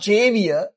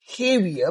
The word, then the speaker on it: Javier: I mean slightly spellings and not Javier. Uh we call him heavier because Cubans and some pronunciations J is not pronounced as J right.